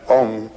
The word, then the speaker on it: Om: things are manifestations and om it's a it's a wonderful word it's written a u m you start in the back of the mouth ah and then ooh you fill the mouth and um closes at